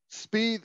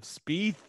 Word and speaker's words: Spieth: Speed, I'll say it right now, Speed will not make the cut. First of all, I love how you say speed instead of Spieth.